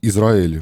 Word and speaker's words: Ізраїль: ставляться наголоси і так в слові Ізраїль має стояти наголос на А так само як в слові каталог на О а не на А коли є Отакі речі